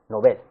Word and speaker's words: novel: recuerda que está extendida una pronunciación nobel que se equivoca ya que su correcta pronunciación es como una palabra aguda nobel deseamos que también los